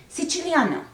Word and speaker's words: Siciliano: of this piece, or I should probably say it at least one time in Italian pronunciation, Siciliano, because this is a movement that evokes Sicily.